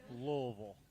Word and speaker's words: Louisville: I always feel like you're swallowing the word when you say Louisville. That's because I'm a Kentucky native that knows how to pronounce it. As am I. Louisville.